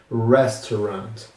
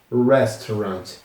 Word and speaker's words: restaurant: A sua pronúncia que é meio diferente, que é restaurant. Restaurant. R E S T A U R A N T. Restaurant. Então o T é mudo.